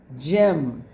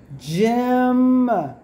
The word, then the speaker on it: gym: This is a short I sound, like eh as an igloo, j-eh, right? Eh is a short I sound. It's tricky, but it moved that short I out of the way in gym and put the Y here, so it took over that sound.